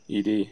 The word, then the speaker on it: ed: How do you pronounce the name of the standard text editor? ED? Yes. ED.